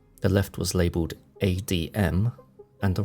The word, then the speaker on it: ADM: he explained to me ADM and RM pronounced ad and REM considering your placement in